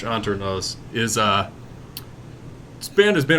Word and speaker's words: Hanternoz: antique so under knows you probably don't pronounce the h too much anternos is uh band has